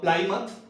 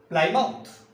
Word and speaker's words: Plymouth: The narrative speakers pronounce it Plymouth, while more commonly it is also read as Plymouth.